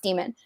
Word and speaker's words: Daemon: But when you become an adult, it solidifies into and it's called a demon, but it's Daemon. But Philip Pullman, who wrote it, says that it's pronounced demon.